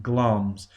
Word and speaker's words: Glamis: It's written Glamis, but we pronounce it Glamis.